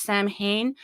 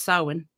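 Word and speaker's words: Samhain: you look at it it looks like it's pronounced Sam Hayne but the actual Celtic uh pronunciation is sawin correct correct old an old one old old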